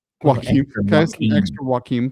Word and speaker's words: Joaquin: Is that how you say his name? Yep. Sounds like something I get on my burrito. Joaquin Can I have extra Joaquin, please?